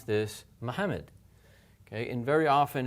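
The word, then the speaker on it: Muhammad: it together fast Mohammed remember in Arabic there actually are two memes here and they're both pronounced imagine that one of them is going with the syllable before of it and the other one's going with the other syllable Mohammed Mohammed and then say that faster Mohammed so that you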